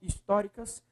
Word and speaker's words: históricas: Históricas. Qual é a sílaba mais forte?